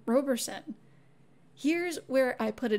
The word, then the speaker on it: Roberson: the pro persons and both declared that the name was always pronounced Roberson these testimonies are a